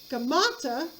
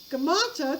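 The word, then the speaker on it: Gaumata: So a look-alike of Smerdis's by the name of Gamata, which is spelled G-A-U-M-A-T-A, G-A-U-M-A-T-A, Gamata actually takes the throne, pretending to be Smerdis.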